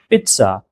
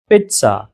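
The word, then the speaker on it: pizza: नहीं, वहाँ पर उसका प्रोनाउंसिएशन कुछ इस तरह से होगा कि आपको ज़ की जगह ट का साउंड यहाँ पर हल्का सा निकालना है। पिज़्ज़ा, पिज़्ज़ा, पिज़्ज़ा, आपको इस तरह से कहना है।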